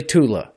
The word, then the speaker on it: Thule: I pronounce it as Thule, but mind you, it's a German society, so inflection is different. It's probably Tula, right?